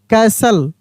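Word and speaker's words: castle: patient L आई एस टी ई N listen O एफ टी ई N often C ए एस टी एल ई कैसल एस ओ एफ टी ई एन सफन एफ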